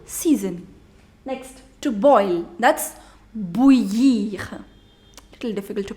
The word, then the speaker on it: bouillir: That's bouillir. Little difficult to pronounce. So I told you I-double-L, when it comes together, you do not pronounce double L.